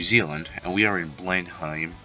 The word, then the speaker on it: Blenheim: are in New Zealand and we are in Blenheim Blenheim or how we pronounce this blend even Blenheim and when we when you're here usually